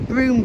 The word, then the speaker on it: Brougham: in has told me it's the most mispronounced Castle name in the country so it is broom Castle so I don't know